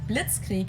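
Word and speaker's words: Blitzkrieg: used way before that we pronounce it Blitz Creek in German and it literally translates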